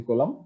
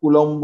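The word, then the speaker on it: Coulomb: ঠিক আছে, বাংলা লেখাটি দেখে অনেক সময় কুলম্ব বলতে ইচ্ছা করে, এটির উচ্চারণ কিন্তু কুলম্ব নয়। ঠিক আছে, এটি উচ্চারণ হচ্ছে কুলাম।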